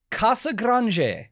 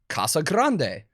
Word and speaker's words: Casagrande: Spanish, it would be Casagrande. But in Brazil, they speak Portuguese, which is not Spanish. So if you look up an interview, you will see Eloy Casagrande.